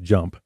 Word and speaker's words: JMP: So JMP, we pronounce it JMP, and it's actually from SAS.